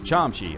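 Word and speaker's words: 참치: you give me a tuna kimbap tuna's uh pronounced chomchi but I was like the first week in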